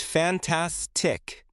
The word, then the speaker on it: fantastic: I put the stress on the middle. It is fantastic.